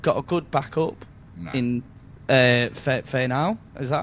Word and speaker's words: Fainu: They've got a good backup in Fainau. Is that how you pronounce his name? Latu Fainu. Yeah. Fainu.